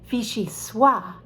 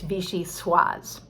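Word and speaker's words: vichyssoise: french don't know that it's a feminine word and that they should pronounce the s so you might hear people say they'd like the fichi sua at a fine restaurant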